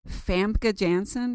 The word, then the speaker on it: Famke Janssen: Can you say Famke Janssen. Famke Janssen, right?